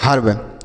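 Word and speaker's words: herb: एच ई आर वी ई, तो यह हो गया हर्ब। क्या हो गया?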